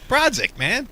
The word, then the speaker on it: Borodziuk: Borodziuk, man.